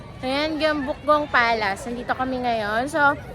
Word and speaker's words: Gyeongbokgung: Gong Bukgong. Gong Bukgong. Tama ba yung pronunciation ko? Ayan. Gong Bukgong Palace.